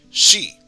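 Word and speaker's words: し: we're saying excuse me instead of c we're saying she which adds the soft h sound afterwards but i'll pronounce each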